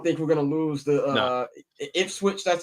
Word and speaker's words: Ipswich: I don't think they're gonna hoist it this week because I don't think we're gonna lose the Ipswich. That's how you pronounce them niggas' names.